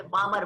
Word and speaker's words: Balmer: वहाँ यल कुछ है तो साइलेंट रख के बामर बोलने का, तो बाल्मर भी बोल सकते हैं लेकिन प्रोनाउंसिएशन में date is called as बामर series.